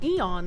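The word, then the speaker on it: aeon: So whether you see aon or eon, say it the same way.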